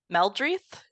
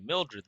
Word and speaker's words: Mildreth: of our guest stars I'm playing mildreth is that how we're saying her name cool yeah so we are now okay so instead of wolf mispronouncing my character's name I get to mispronounce his character's name got it done how the turns have tabled yes indeed I've been calling you Mildred this whole time brilliant and of course